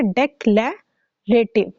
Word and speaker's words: डेक्लेरेटिव: ये देखिए, डी ई C, deck, L ए लै, ठीक है, डेक्लेरेटिव, ठीक है, डेक्लेरेटिव। ऑलराइट, इसके 3 कॉम्बिनेशन आपने बनाने हैं। डेक्लेरेटिव, ओके, फर्स्ट इसकी है डेक्लेरेटिव, और इसकी डेफिनेशन क्या होती है?